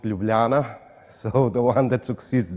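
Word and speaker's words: Ljubljana: you start making jokes try to say and pronounce correctly my hometown which is called lublana so the one that succeeds this can make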